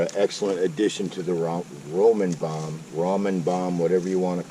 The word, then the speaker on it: ramen: excellent addition to the ramen bomb, whatever you want to call it. I believe the proper southern pronunciation is actually Roman noodles, not ramen or ramen. I've heard people call them ramen noodles, Roman noodles.